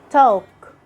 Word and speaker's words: talk: Letter L is silent in some of the most famous and common words we use every day. Like when you say walk, talk, should, would, half. Letter N.